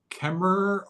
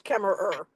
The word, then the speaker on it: Kemmerer: By the way, is it Kemmer? I always called it Kemmer, without the extra syllable. It's E-R-E-R at the end. Yeah, that's how it's spelled. Paul got it right. It's Kemmerer. I have always seen it spelled that way, but the people that I know from Kemmerer, they say it in a way that sounds like they cut out the last syllable.